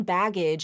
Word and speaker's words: baggage: Within A Word because your first syllable is bag and your next syllable is AG bag AG but that bag G that final g sound moves over to the beginning of the next syllable So when you say it and you link it it sounds like bagage baggage not bagage bagage baggage same thing